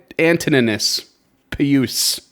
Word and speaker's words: Antoninus Pius: and there was also one brought by Emperor Antoninus Pius and Antoninus Pius. I don't know how to say that. Antoninus Pius. I think you nailed it the first time. Antoninus Pius.